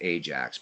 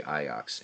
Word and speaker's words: Ajax: iox jacket right so we would pronounce it Ajax we say iox and and Dutch I'm like dude what